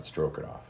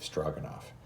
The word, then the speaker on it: Stroganoff: and off beef strogoff I I mispronounced it it's not stroken off it's beef strogen off um yeah so that's